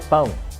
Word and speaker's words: pão: The second reason is that you may run into trouble if you mispronounce the nasal sound. Take for example the word pão. It means bread.